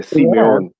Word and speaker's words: Simeon: Yeah, Um, yeah, but I say that in how I pronounce it in my native language. That's why I yeah. Simeon.